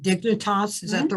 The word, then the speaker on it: Dignitas: You find this organization in Switzerland called Dignitas, is that the right pronunciation?